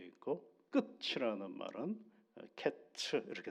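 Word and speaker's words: קֵץ: 그래서 끝과 여름과일 광줄이 하나가 어떻게에 연결이 되느냐라고 할 때 어제 이제 그런 말씀을 드 발음 때문에 그렇다라고 말씀을 드렸죠. 여름과일 한 광주에는 히브리어로는 카이츠라고 돼 있고 끝이라는 말은 캐츠 이렇게 돼 있어요.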